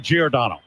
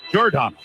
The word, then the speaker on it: Giordano: I'd always called him Giordano. Yeah. And his nickname is Gio. But he wants to be known as Giordano.